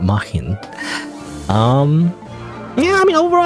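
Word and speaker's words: Märchen: It's not Martian, not like Mars, like aliens, but Mahin.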